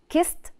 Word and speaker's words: kissed: with fix fixed okay so these are the group of words that end with a t sound at the end the last group of